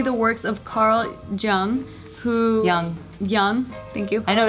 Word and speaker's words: Jung: they did study the works of Carl Jung Yong Yong thank you I know it is spelt at the Jayla so Carl Jung he